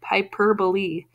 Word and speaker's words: hyperbole: that is bolli so most E's on the end of words we do not pronounce usually that me would make